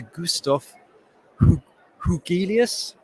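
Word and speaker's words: Gustaf Hugelius: i'm now going to hand you over to gustaf hougheelius from stockholm university thank you very much for that introduction and correct pronunciation of my name so i'm gonna start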